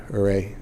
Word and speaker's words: Huray: Huray? H-U-R-Y. Huray. Oh, okay, Huray. Huray. H-U-R-Y, okay.